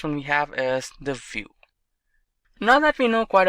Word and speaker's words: Vue.js: complete web application solution view. GS is commonly referred to as View and pronounced as vuejs or view is rightly so now why